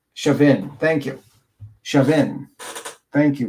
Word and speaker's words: Chauvin: Is it Chauvin? With like a short I or Chauvin? Chauvin. Let me see. It's always Chauvin.